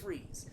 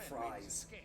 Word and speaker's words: Fries: is technically uh like it's of german origin it's supposed to be pronounced freeze however correct i don't